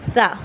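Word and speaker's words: ث: دانت ہیں اوپر والے، ان پہ لگے گی تو پھر نکلے گا لفظ تلفظ سا۔ سیٹی کی آواز نہیں نکلے گی بلکہ نکلے گا سا، صرف سا۔ اس کی ہمیں پریکٹس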